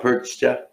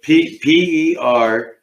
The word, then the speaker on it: Perchta: Perch? is he saying it right? No. Didn't think so. I didn't think so. Perchta. How do you say it? I don't want to say it right off the top of my head. I have to see the spelling. How's it? Perchta.